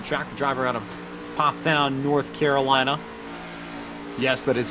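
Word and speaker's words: Pfafftown: The driver out of Pofftown, North Carolina. Yes, that is how it is pronounced for those who are unaware. There are a lot of F's there. It can trip you up, but Pofftown is the way.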